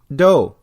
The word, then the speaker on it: dough: The third variation is do, just the way Homer Simpson says it. Do! That's how you pronounce D-O-U-G-H, used to make bread, or dough as slang for money.